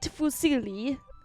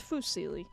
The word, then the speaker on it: fusilli: idea why but it's it's fusilli or fuzzily the correct pronunciation but it's that you